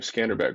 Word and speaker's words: Skanderbeg: Yeah, the story of Skanderbeg, I think that's how you say his name, Skanderbeg, right?